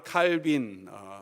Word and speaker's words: 칼뱅: 유명한 종교개혁자인 존 칼빈, 프랑스 발음으로는 칼뱅이라고 하는데 그는 언제나 그의 옷에 라틴 말로 이런 모토를 붙이고 다녔다고 잘 알려져 있습니다.